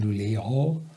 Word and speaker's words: Luleå: Also ich nehme an, dass dann in Luleå wird es geschrieben mit dem O-Kringel oben drauf, das spricht man Luleå aus.